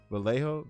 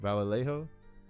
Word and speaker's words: Vallejo: By the way, this is an uh how you pronounce it? Valet V. Vallejo Vallejo California.